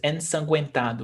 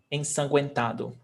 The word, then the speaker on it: ensanguentado: The U is pronounced. Ensanguentado is like to be fully covered in blood. Ensanguentado. So yes, Shani, we've got both pronunciation, ge and gue.